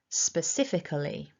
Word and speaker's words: specifically: So running all of that through, specifically, specifically.